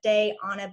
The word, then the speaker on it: Diana: So, and for those who are curious how to pronounce my name, quick hack for you: day on a beach, day on a lake, wherever you're from.